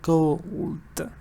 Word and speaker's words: gold: So you have to go ahead and say gold. Both consonants have to be pronounced properly.